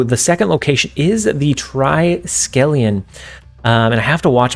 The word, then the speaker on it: Triskelion: Oh, so the second location is the Triskelion.